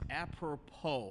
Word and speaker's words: apropos: And it's apropos, I think that's how you say it, apropos?